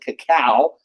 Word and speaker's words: cacao: They're spelled C-O-C-A-O, and most people pronounce it cacao, but cocoa works just fine.